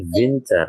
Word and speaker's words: Winter: Kemudian yang kedua, nah di sini jika hurufnya adalah W, tadi kan dibacanya kan V ya, dibacanya kan V. Maka ini menjadi Winter ya, dibaca menjadi Winter.